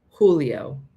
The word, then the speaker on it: Julio: it's four maybe five don't say the g sound just it's just it's an H Julio H Princeton oh yeah